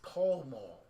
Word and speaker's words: Pall Mall: It's Pall Mall. Like, it's not that hard to figure out. Like, you don't get an ah sound from two L's, you know?